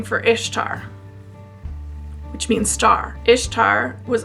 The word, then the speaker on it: Ishtar: way you pronounce it pronounced ishtar ishtar is pronounced ishtar ishtar it's babylonian maybe middle eastern ishtar it's not pronounced easter but easter is